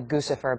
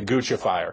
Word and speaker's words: Guccifer: have this stuff so I'm being told in my ear that it's actually gfer but I prefer the Italian pronunciation of I'm going with you I'm absolutely guca fire a guc fire that's